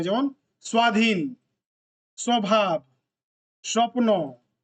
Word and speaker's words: স্বপ্ন: Sound आता है, जैसे क्या क्या आता है, ব ফলাতে যেমন স্বপ্ন, এখানে ওর উচ্চারণ হচ্ছে স্বপ্ন।